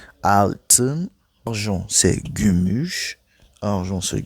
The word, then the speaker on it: altın: Altın, c'est pas comme 6 altı, mais là on ajoute avec le N. Altın.